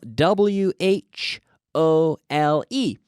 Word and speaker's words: whole: same as well but there's a silent W a silent W in front of the H hole hole in Dan